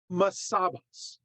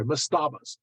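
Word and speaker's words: mastabas: they built what are known as masabas or sorry I should say mustabas mustabas mustabas um so what is a must stop so it's spelled m-a-s-t-a-b-a-s mastaba homastava basically is a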